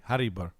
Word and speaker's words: Harrisburg: Well, let's pronounce it correctly. Harrisburg. That's how this. That's how this. My fellow Spanioli.